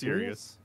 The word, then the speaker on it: Cyrus: say your name Cyrus it's sirious Sirus okay okay Sirius XM all righta I see